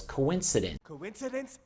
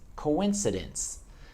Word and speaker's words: coincidence: word I said was coincident I think not it's coincidence the key in that word if you can hear is the S to say it long and strong coincidence okay so let's try